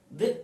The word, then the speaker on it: the: देखिए दी एलिफेंट यहां पर मैंने इसलिए बोला क्योंकि ई जो है हमारा यहां पर कौन सा साउंड है, वॉवेल का पार्ट है।